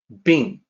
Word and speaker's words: 病: The pronunciation is like this, it's easy. Bing.